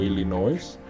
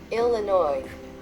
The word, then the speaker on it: Illinois: Y bueno, usualmente los que aprendemos inglés estamos aprendiendo, y cualquiera que hable español pronunciaría eso como Illinois. Y no es así como se pronuncia. Escucha atentamente cómo se pronuncia eso en inglés correctamente. Illinois.